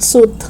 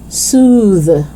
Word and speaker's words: soothe: becomes voiced southern okay soothe it's not suit okay soothe okay so we have